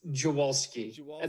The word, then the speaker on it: Dziwulski: It's Dziwulski. That's how we say it in Maryland. If we went to Poland and said that, they'd probably smack me in the face and tell me that I was a disgrace.